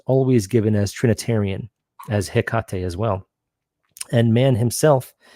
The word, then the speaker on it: Hecate: Hecate was pronounced as Hecate. It was a disyllabic pronunciation, not 3.